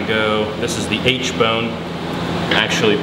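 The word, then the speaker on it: aitchbone: We're gonna kind of go, this is the H bone, actually pronounced H, but it's like A-I-C-H-T.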